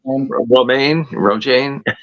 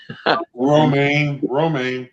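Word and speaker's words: Romijn: uh I I'll butcher her last name uh Roma Roane roma roma yeah although it's spelled with a J yeah I know yeah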